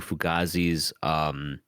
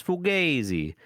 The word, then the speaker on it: Fugazi: Like, I think the Italian pronunciation is Fugazi, but the band's pronounced Fugazi, as far as I know. I stand to be corrected though. But yeah, Fugaze, Fugaze is pretty good.